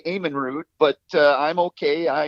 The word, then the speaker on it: Amenrud: say your last name ahmanrud is that is that just how it well well uh the norwegian in us pronounces it with the long a eamonn root but uh i'm okay